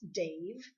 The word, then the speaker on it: Damh: Dave the Bard, believe it or not, for those of you that are not familiar with Dave the Bard, it's D-A-M-H, the Bard, but it's pronounced Dave, and his real name happens to be Dave, which is kind of funny.